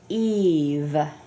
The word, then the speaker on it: Eve: Why is the E long in the word Eve? Because it's a VC. It's a VCE? Yeah. A vowel consonant E? Okay, and what is that? What does that do? Right, it's a silent E, right? And the silent E makes a vowel do what? I'm sorry, what was that? Make a vowel say its name.